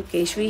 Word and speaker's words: केशवी: KESHVI, केशवी। बहुत सारे लोग बहुत सारे प्रोनाउंसिएशन गलत बता रहे हैं, तो आप लोगों को बता दूं कि उसका नाम केशवी है।